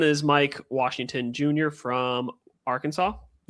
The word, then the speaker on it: Arkansas: from Arkansas. Yep. I almost said Arc Kansas. I'm like, that's not the correct pronunciation.